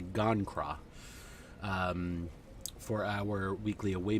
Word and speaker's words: Gon'Cra: to con to gangra I always pronounce I always switch the G in the C I always say kangra but it's actually gone craw um for our weekly